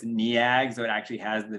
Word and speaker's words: Neag: It's NEAG, so it actually has the VV pattern, which I always think is funny.